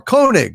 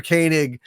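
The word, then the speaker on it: Koenig: the BBC thank you Commander kanig uh or kig as as they said sometimes but really it's K Walter kanig Commander kig I guess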